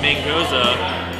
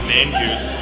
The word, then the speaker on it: Mangoza: Number two, Mangoza, which gets pronounced as mangoose 9 times out of 10.